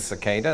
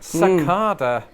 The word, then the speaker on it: cicada: That is, there are many words in which an R pronunciation in British English becomes a long A in American English.